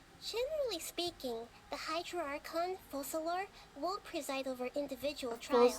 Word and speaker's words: Focalor: Generally speaking, the Hydra Archon, Focalor, will preside over individual trials. Focalor is how you say the However, even then,